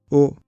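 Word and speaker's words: を: O, qui se prononce o mais qui s'écrit wo, est la particule du COD.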